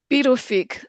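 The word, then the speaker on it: Pituffik: Then in 2016, it was transported to, it's pronounced the Pivnick space base, located roughly 1,200 kilometers above the Arctic Circle.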